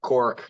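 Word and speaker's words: caulk: I know it's spelt wrong, but it is pronounced cork.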